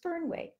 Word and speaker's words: Fernweh: back into favor, and I may not be pronouncing it correctly, but it's Fernweh. So I think it's spelled Fernweh, if you're curious.